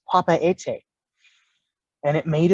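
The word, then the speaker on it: Papeete: the king of Tahiti the actual pronunciation of its name is Papa ete and it made its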